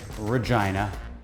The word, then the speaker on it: Regina: in regina saskatchewan and yes that's right regina that is how you pronounce it please do like share